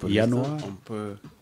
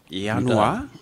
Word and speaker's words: Januar: Bon, Januar, Januar, c'est J-A-N-U-A-R. Januar, J-A-N-U-A-R. On appelle que le J allemand se prononce comme un I, comme dans noyau, bien comme dans boy.